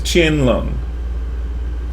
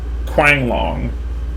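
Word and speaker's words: Qianlong: a thing I say the way you kind of pronounce it is chin lung not Quang long right it's more like chinlung so this is the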